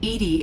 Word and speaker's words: EDI: are you named edie edie is the phonetic pronunciation of edi that is an acronym for enhanced defense intelligence why are you named